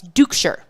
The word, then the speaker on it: Duchscherer: last name is spelled, never in a million years would you guess that is how it's pronounced. As that one right down the heart of the plate for a strike. Duchscherer, and it's Dukeshire.